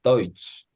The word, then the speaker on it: Deutsch: TSCH는 SCH가 쉬 발음이거든요. 근데 거기에 T가 붙으면 이거 우리가 모두 아는 발음입니다. 한국어 치읓 발음이 됩니다.